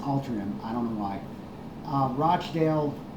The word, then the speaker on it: Altrincham: Looks like Altrincham, but it's pronounced Altrincham.